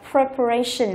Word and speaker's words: preparation: Đuôi tion cho nên trọng âm chính của từ sẽ rơi vào cái ray này. Chúng ta đọc là preparation, là sự chuẩn bị.